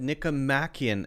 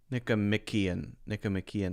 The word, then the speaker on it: Nicomachean: That's another one I'm mispronouncing. I've always said Nicomachean Ethics, and he's saying here Nicomachean Ethics.